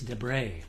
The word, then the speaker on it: Debret: a gentleman named Lis de D EB r t French pronunciation he says I don't know if there's much French blood left in there but uh it's pronounced de this is an OM